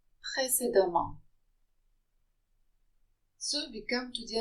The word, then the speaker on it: précédemment: If the EM occur together in a word, they're pronounced am. Précédemment.